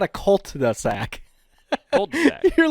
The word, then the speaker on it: cul-de-sac: Cul-de-sac, yeah. Cold-de. Yeah. I'm seeing it phonetically broke down.